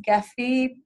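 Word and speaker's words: Gephi: free online software called I think it's pronounced Jeffy ge pH I and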